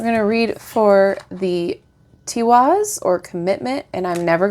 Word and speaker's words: Tiwaz: And it does have the pronunciation. All right, T-Wars.